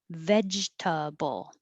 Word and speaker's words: vegetable: camera same with 16 vegetable vegetable we don't say that middle e litigate litigate and 18